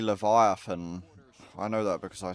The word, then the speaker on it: Leviathan: They need to get uh Levaton out of there. I mean, they're pronouncing it wrong, though. It's actually Leviathan.